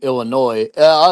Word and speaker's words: Illinois: It's not losing Illinois. See, I pronounced it right there, Ken. But Isaac, you didn't pronounce it like a dumb fucking redneck.